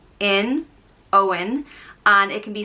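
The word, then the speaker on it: Eoghan: born of the yew tree meaning and it's pronounced o in owen and it can be spelled either e o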